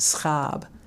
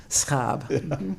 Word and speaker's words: Schaab: my late husband his his name was Phillip scab scab took me a while to learn to pronounce that so in in the United States